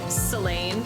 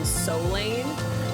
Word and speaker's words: Selene: I actually kind of like Selene, but I would pronounce it like Selene, like with a soft O sound rather than Solane, like Selene, almost like Celine Dion, but like Selene, Selene Delane.